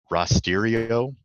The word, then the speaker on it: Rasterio: Rasterio, which I've been told it's pronounced, is another good GDAL plugin for Python,